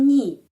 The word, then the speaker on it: не: Ucapannya nie, kadang-kadang nie, kadang-kadang ni. Tetapi mayoritasnya ni, ya, ni. Dengar ya, это не дворец. Kalau это не дворец, susah ya, nie, ya, kita harus kasih tenaga ya, nie. Karena itu nie pengucapannya ni.